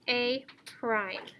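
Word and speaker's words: A′: it with an a in an apostrophe pronounced a prime so what i showed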